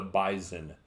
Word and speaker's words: bison: talks about the Bison the Bison with a Z you know what I actually had looked it up he made me doubt myself of how I'd learn to pronounce this word in 50-plus years I actually looked it up last year when I heard him do it it's bison it really is just just like you think it is and then